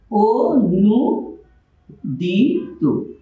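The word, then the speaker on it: অনূদিত: আমরা যদি লিখি অনুদিত, এখানে আমরা দেখতে পাচ্ছি শব্দের শুরুতে অধ্বনি আর এখানে আছে দন্তন্বয় দীর্ঘকার, এর উচ্চারণ কি লিখতে হবে? ও নু দি তু। তাহলে আমরা দেখতে পাচ্ছি এখানে অটা ও হয়ে যাচ্ছে।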